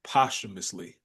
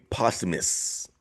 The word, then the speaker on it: posthumously: he said because the way it's spelled is like posthumously. That's how it's spelled. Right. So if you, I give you grace if you had never heard it said before, Yeah. because you don't say it necessarily the way it looks.